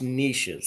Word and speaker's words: niches: Someone says the riches are in the it's pronounced niches, so that doesn't actually rhyme.